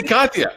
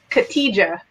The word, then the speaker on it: Khatija: I say Katya. I just like Kat. Katya. Okay. It's okay. The J is silent in many languages, so it throws people off.